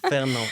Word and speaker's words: Fernand: Fernand.